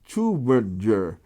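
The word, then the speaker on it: Tübingen: this you in german uber is a german word and the way you pronounce this city is like that you and uber uh is tubinger and from uh the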